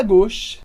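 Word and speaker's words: gauche: gox à esquerda aqui repara na pronúncia da palavra gos que a gente vai falar u com o som de o Então a gente vai falar go depois a drat que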